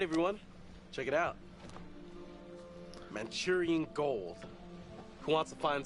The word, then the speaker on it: Manchurian: The Mancurian Candidate, right? That film. Or am I mixing it with Mancunian? Maybe. Mancurian pronunciation. Who's right? Me or him? Manchurian. He's right. I'm wrong.